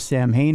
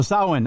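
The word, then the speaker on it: Samhain: It tells the origins story of Sam Hayne or Summer's End in Irish. What's that? It's pronounced Sin. Oh, Sawin. I'm sorry. Not Sam. Sawin.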